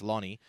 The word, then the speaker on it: Loni: do apologize for that I said loony it's not Looney it's lonie uh but I want